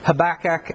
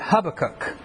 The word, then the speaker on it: Habakkuk: ways and in fact I tend to pronounce it two different ways and so as we go through this book half the time I'll probably call it Habakkuk and the other part I'll probably call it Habakkuk I've heard it pronounced several other ways I'm not exactly 100% on the pronunciation of it but here we go